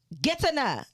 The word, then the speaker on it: Getaneh: Getaneh. Did I say it right? Yes. I had to spell it like how I was going to pronounce it, and I did it.